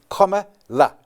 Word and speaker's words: Kamala: But first, we need to learn how to pronounce her name. So, gents, it is Kamala.